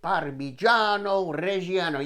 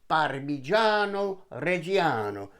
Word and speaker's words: Parmigiano Reggiano: Here's 1 1/3 cups of grated Parmigiano Reggiano. You have to say it like that. Parmigiano Reggiano.